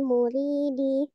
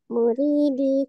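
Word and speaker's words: المريد: Wa ba'du hadzan nazmu lil muridi. Jangan murid, muridi ya.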